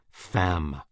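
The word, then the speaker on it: femme: Comer is a wretch fam woman rhymes with infam Infamous yes I have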